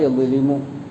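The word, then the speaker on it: يَظْلِمُ: പിന്നെ പറഞ്ഞ ലുൽമ് എന്നുള്ള യദ്ലിമു അത് വളരെ ലഘുവായ അക്ഷരമാണ്. അത് നാവിൻ്റെ തുഞ്ചം പല്ലിൻ്റെ പുറകെ തട്ടിക്കുമ്പോൾ വരുന്ന യദ്ലിമു അത് ചെറിയൊരു ലളിതമായ അക്ഷരം.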